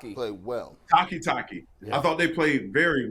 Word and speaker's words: Takitaki: do you say his last name played well takitaki I thought they played very well yeah and